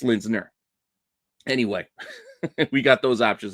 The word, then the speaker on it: Linsner: Yeah, it's Linsner.